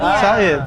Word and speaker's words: Said: Said. Iya. Di jalan Rasun Saidid. Iya. Said bacanya. Said. Oh Said ya. Said bukan. Tapi Said bahasa Inggris berkata.